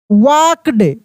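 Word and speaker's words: walked: तो देखिए डे ही वाक्ड बताए थे कि एल साइलेंट रहता है। एल को नहीं पढ़ते हैं।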